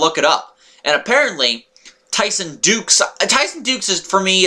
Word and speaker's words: Dux: there but and yes it's not Tyson ducks Tyson Duke see when I reading it it's like Tyson ducks no it's Tyson dukes like Duke Nukem or nukes I don't